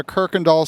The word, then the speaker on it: Kuykendahl: we're here at the Kirk andall site here in Houston Texas now the locals pronounce a Kirk andal but there's no R in the name at all uh we're building a